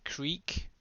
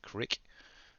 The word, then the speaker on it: creek: Yeah, this is creek. Unlike what some people say, is they pronouncing it as crick.